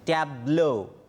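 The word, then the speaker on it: tableau: যেটা করলাম একটু পরিষ্কার করে দিচ্ছি, সেটা হচ্ছে ট্যাবলো। বানানটা ট্যাবলোর মতন না, বানানটা হচ্ছে টেবিল, তার সাথে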